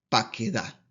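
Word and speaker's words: פָּקְדָה: que cuando un sheva se encuentra precedido por un metej, es decir, en la primera radical, este recupera su sonido y debe pronunciarse entonces como una vocal, que en este caso es la E. Por tanto, aquí la regla nos dice que esta palabra dice paquedá.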